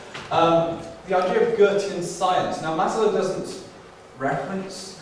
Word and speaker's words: Goethe: Not Goethe, okay. Or Goethe, or no, it's definitely Goethe. The idea of Goethean science.